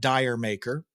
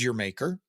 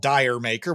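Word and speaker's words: D'yer Mak'er: I guess I've heard some people call it Dyer maker but I guess I take umbrage at this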